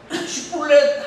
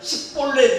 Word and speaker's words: 쉿볼렛: 오늘 이 쉿볼렛이라는 말도 해야 하는데 사람들이 이 쉿볼렛이라는 발음을 못하는 거예요. 그래서 쉿볼렛 하면 식볼렛 이러는 거예요.